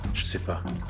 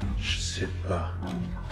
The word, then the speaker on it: ch'sais pas: Je sais pas, je sais pas, je sais pas. Et sachez que parfois le s disparaît complètement et on prononce seulement je sais pas, je sais pas.